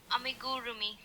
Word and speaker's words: amigurumi: Amigurumi. Amigurumi. Amigurroomi. So I kind of soften the gur part and just say ami gurroomi.